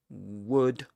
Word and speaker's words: would: The verb would in which you don't pronounce the l consonant.